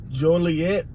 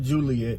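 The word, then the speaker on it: Joliet: now exact location I'm in is Jolie yet I guess that's how you say it not Juliet Juliet uh I just don't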